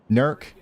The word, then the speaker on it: Newark: Nerk, you said it right.